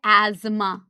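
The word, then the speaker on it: asthma: तीन ही डिसऑर्डर्स दिए हुए हैं बेटा, एज्मा जिसको अस्थमा भी बोलते हैं, है ना, एज्मा इज the right pronunciation, but हम अस्थमा बोलते हैं, emphysema and occupational respiratory disorders, फिर हम PYQs करेंगे।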